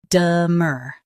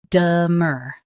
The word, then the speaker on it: demur: demur Now read the syllables shown on the screen naturally. de mur demur Keep de soft and stress mur.